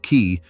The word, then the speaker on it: cay: A cay, pronounced key, is a low heap of sand and coral barely above the tide, the basic building block of the whole chain.